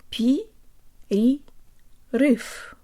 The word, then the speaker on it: перерыв: let's do the whole word draw down lips P a riff PDF PDF PDF PDF period roof that's it